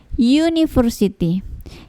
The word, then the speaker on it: university: Meskipun ini huruf vokal, tetapi cara bacanya ini university. Ketika kita sebutkan university, yang terbaca yang kedengaran huruf pertama yaitu y. Ya, university, bukan university ya, tapi u berarti y ya. Bunyi y terdengar di awal ketika kita mengucapkan university, makanya kita pakai a university, artinya sebuah universitas.